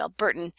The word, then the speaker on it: Albertan: at the end, Alberta, as opposed to Albertan, where you just chop off the middle syllable and then have the n at the end, which conditions the occurrence of glottal stop.